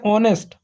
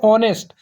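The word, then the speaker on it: honest: क्या पढ़ते हैं, ऑनेस्ट। ये हमारा एच साइलेंट होता है, इसको हम लोग क्या पढ़ते हैं, ऑनेस्ट।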